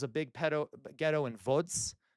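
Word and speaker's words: Łódź: There was a big pedto ghetto in Vods. L O DZ in Polish. VODs. You pronounce L's as V's in Polish.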